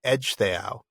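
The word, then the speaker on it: Ecgtheow: Look at the name of Beaywolf's father, Edge Theao. Oh, that's right. Yeah. Yeah. E C G T H E O W. That CG is a J sound.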